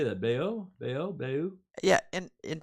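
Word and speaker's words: Bayeux: visited Bay you how do you say that Bayo Bayo Bayo yeah in in France how do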